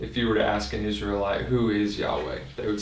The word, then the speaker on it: Yahweh: His name is, and we pronounce that Yahweh.